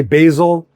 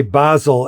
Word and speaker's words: basil: Americans will say basil and Brits will say basil.